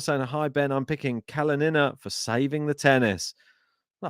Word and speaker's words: Kalinina: Emphasis on the second syllable in Rybakina. Yeah, we know that one. And KALININA. Okay, so it's KALININA.